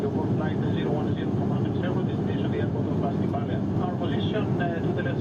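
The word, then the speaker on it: Αστυπάλαια: I said Astypalaia, but it's actually Astypalaia.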